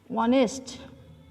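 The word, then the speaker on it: honest: for example Rajib is অনেস্ট, এখানে অনেস্ট বয়, এখানে অনেস্ট উচ্চারণ করতে অর্থাৎ এখানে আছে ঠিক এইচ কিন্তু উচ্চারিত হচ্ছে এখানে এইচের উচ্চারণটা হচ্ছে ও, এর কারণেই এটা কনসোনেন্ট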